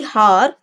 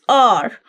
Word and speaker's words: hour: Now, whenever we have the word hour, it is not actually har. Its pronunciation is r. So it is r. H is silent over here.